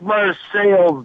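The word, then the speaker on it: Marseilles: It's Marseille. There's nobody in town that can speak French. Okay, Marseille has been anglicized.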